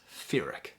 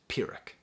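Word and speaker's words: Pyrrhic: got me stumped because he says ferric and the word is pirick but Woods uses tons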